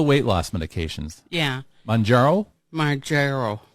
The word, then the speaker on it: Mounjaro: Mounjaro.